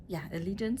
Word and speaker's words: Allegiant: and actually today I know how it is pronounced. It's not. I need to prepare, train that a little bit, practice it. Allegiant Stadium.